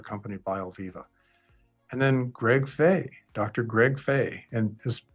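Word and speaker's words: Fahy: it's people pronounce it fee he but it's actually pronounced fay uh and the h is silent but they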